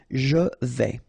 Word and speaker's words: je vais: Je vais, final S not pronounced here, and remember when you combine this A and E together, you get the sound E, so really open. Je vais.